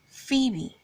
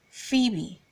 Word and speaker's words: Phoebe: e sound and not the sound so it's pronounced as Phoebe Phoebe and not Bobby there are two acceptable ways